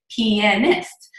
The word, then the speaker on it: pianist: And so anyways, that's how you say it, pianist.